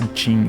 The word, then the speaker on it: Qin: But yeah, the one time when they were talking about the people of Qin, because Qin is pronounced Qin.